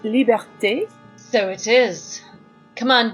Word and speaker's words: liberté: It's pronounced liberté.